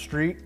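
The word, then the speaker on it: STR.T: have our orange non-adjustable strt pronounced street shock absorber if it's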